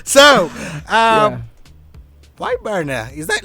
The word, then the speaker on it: Barna: Is that the right pronunciation? BARNA. Like yes. BARNA. BARNA. BARNA. Not just burner.